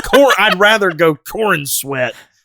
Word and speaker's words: Corenswet: Corin Sweat.